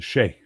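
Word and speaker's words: sidhe: Well, I was thinking more of the si dh. The she. Yeah. The she the she the she. Which always throws people off because it's spelled completely different than how it's pronounced.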